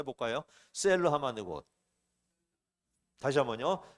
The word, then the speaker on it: 셀라하마느곳: 셀러하마드 곳. 다시 한번요. 셀러하마드 곳. 네.